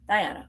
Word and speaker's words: Diana: Diane or Diana? Diana. Okay. I want to make sure I'm saying it right.